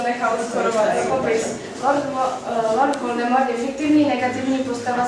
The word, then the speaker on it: Voldemort: jmenuje Tom ro aren podle ringové se má jméno správně vyslovovat dle pravidel francouzské vyslovnost Voldemort Voldemort znamená francouzský krádež